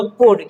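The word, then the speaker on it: could: तो उसी तरह से यहाँ पे भी ये एल क्या है, साइलेंट है, तो ये होगा कोड, क्या होगा, कोड मतलब सकता था।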